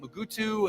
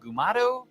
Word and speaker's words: Mugato: you know they have alternative pronunciations mugaru mugutu and gumato isn't that neat and